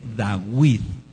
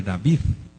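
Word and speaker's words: דוד: La letra B sonaba como W. Por eso el melec da Dawid es el rey Dawid, no es el rey David.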